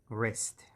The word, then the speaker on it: wrist: and that's our wrist rest and in english w and r when they are put together w is always silenced and it's rest like that and there are